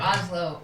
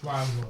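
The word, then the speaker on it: Laszlo: They say they say they order and they pronounce it correctly. All right. Victor Victor Oslo orders. Victor llo. Not Oslo. Lazlo.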